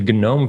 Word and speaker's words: GNOME: executive director of The Gnome Foundation yes there you do pronounce the G it's not silent and at open logic